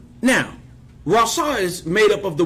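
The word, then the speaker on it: רצה: in the Strong's, which is a word called rasa. Which is R-A-T, S-A-H, Rasa. I had that spelled wrong. Now, Rasa is made up of the word Resh, Resh Sadi Hay.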